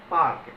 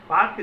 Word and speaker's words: Palk: तत्कालीन गवर्नर जो थे रॉबर्ट पार्क, जिसका स्पेलिंग है PALK, पार्क जो है, उन्हीं के नाम के